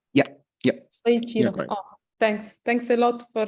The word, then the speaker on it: Soichiro: How is the correct pronunciation? Yeah. Soichiro.